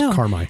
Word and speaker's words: Carmi: There's a town in southern Illinois named Carmi. I know. That's how they pronounce it there. It's Carmi.